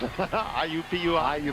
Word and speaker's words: IUPUI: And my acronomatic favorite, IUPUI. Uppui, otherwise known as the Jaguars, or if you want to do it phonetically, it's weep.